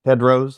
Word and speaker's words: Tedros: This is Kendrick Cunningham and Caleb Tedros, I think it's pronounced. Yes, exactly. And they've actually been political their entire life, if you kind of look at it.